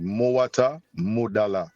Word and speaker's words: Mwata Modala: And it's pronounced MWATA MODALA.